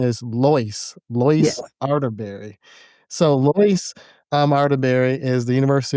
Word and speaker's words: Lois: I've been saying Lois for the past couple weeks and so now it's it the correct name is it pronunciation is Lois. Lois Arterberry. So, Loyce um Arteberry is the University of Minnesota's women's tennis coach.